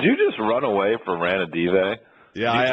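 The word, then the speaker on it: Ranadivé: Ranadive? Ranadive.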